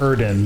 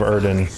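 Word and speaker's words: Yrden: and it lets he's i think it's actually pronounced erden that's what uh what's his name vezimir says but it's like once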